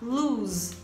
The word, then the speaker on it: lose: elas está na pronúncia a primeira a gente vai falar luz luz então esse S vai ter um som de z luz e a segunda a